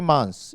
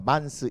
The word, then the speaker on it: months: th는 쓰고 s는 씁니다. 그럼 어떻게 발음하잖아요? 스 하지 않습니다. 그냥 스 합니다. months 이렇게 하면 됩니다. 한 달일 때 month 이렇게 되면 thank you 할 때 month 하지만 그게 th하고 s가 같이 있을 때 months s만 발음합니다.